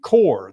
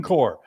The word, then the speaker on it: Corps: the Marines you're you're part of the Marine Corps that is how it's pronounced the Marine Corps you know um it's spelled c r PS the Marine Corps I guess you could say but it's a